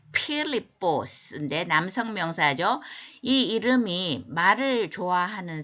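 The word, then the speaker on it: Φίλιππος: 반복의 의미가 항상 있잖아요 자 사람 이름인데 이게 큰가 이렇게 발음이 필립보스인데 남성 명사죠이 이름이 말을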